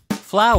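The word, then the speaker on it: flour: はこの単語ですフォア or 小麦粉という意味ですね花という意味のファールと同じ発音ですよ oe ur ああを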